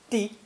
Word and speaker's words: 的: This character, pronounced fourth tone, di, di, replaced an earlier one representing a target or purpose, which is obviously related to the notion of clarity.